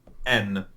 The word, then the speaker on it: Haine: it should be said n which is the proper French pronunciation of the word um however we like